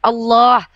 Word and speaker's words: Allah: Transliterasi namanya tetap kaidahnya harus menggunakan kaidah bahasa Arab ditafkim bacanya ditebalkan Allah karena ada huruf lam jalalahnya.